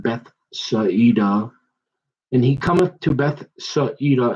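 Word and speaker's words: Bethsaida: going and reading backwards they pronounce the i as an e and i picked up on that so it'd be like beth saeedah and he cometh to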